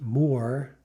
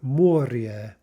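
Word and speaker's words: море: well the next one the word for c isn't more right as you might think but rather moria moria the word for activity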